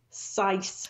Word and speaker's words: Saiz: Also, we've noticed that Saiz, how did you say his name earlier? Sice. Sice. We can just call him Sicey, like, though. No, I like Sice because it's kind of close to Sykes, and I kind of like Oliver and Company.